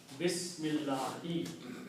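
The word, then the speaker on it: بسم الله: The meaning of this swad is, do not pronounce this alif here. Bismillahi.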